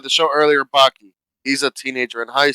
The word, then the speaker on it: Baki: I mean, Did you so say his name Imagine was that worked in real Pocky? life. Baki, Baki. Oh, Oh, not with a C.